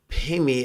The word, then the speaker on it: Pemi: Pemi is the Tibetan pronunciation of the Sanskrit syllable padme, which of course is,